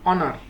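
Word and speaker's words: honour: অ্যান এই ইয়ার অ্যান অনার এখানে প্রতিটি শব্দেই এইচ এর উচ্চারণ হয়নি বরং এর পরের ভাওয়েলটির মত উচ্চারিত হয়েছে তাই এই শব্দগুলোর আগে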